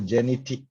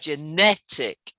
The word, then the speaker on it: genetic: for you okay how do we pronounce number two number two genetic genetic genetic yeah the because the underlined part is the stress of the earth genetic yeah goodness so this